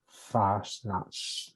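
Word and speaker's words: Fasnacht: say um our congregation has an annual uh fashion sale very successful for effort required i think i pronounced that wrong how do you spell it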